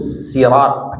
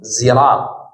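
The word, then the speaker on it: صراط: bacaan yang benar ya itu sirat pakai sin siratal mustaqim. Ada benar itu enggak salah ya. Karena sebagian ee keterangan apa namanya ee qiraah itu bacanya sirat. Ada yang bacaannya zirat ziratal mustaqim itu juga benar gitu.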